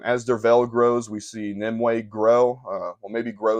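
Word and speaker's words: Nimue: thing up next is nimway I believe that's how you say her name nimway she is Merlin's Priestess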